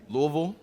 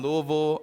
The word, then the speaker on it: Louisville: That's how you say it. They taught me. They teach you how to say the word Louisville.